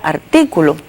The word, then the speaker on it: artículo: Tenemos además el caso de la palabra artículo, que como ustedes pueden observar, si la dividimos en sílaba, tiene la fuerza de pronunciación en la antepenúltima sílaba, o sea que es una palabra esdrújula.